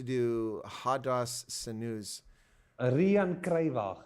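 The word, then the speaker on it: Riaan Cruywagen: Now, who is this Ryan Kruiwagen? Used to do Hadas Sinus. Rian Kruiwagen. Oh, well, it's spelled Ryan here, so you can understand why I got it wrong.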